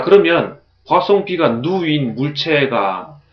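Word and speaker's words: ν: 따라서 파송비의 정의는 파송비는 그리스 문자로 이렇게 썼고 읽기는 누라고 읽습니다.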